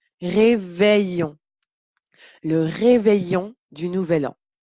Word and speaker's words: réveillon: an le réveillon réveillon donc quand il ya ni deux elle on prononce réveillon le réveillon du nouvel